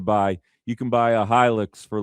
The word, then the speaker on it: Hilux: You guys know what a Toyota, I don't know if it's pronounced Hilux or Helix, it's Hilux.